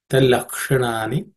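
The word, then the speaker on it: तल्लक्षणानि: Talaksha. This ksha is uk and sha. The sha is cerebral sha. Tip of the tongue should point towards the roof of the mouth. Talakshanani vachyante nana mata bhe.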